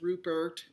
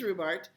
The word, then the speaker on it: Rubart: um he jokes that people say his name all kinds of different ways rubert whatever but it is rhubart and he wrote this